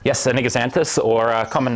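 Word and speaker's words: Anigozanthos: Am I pronouncing it right? Anigaxanthus? Yes, a Anigaxanthus, or a common name of kangaroo paw.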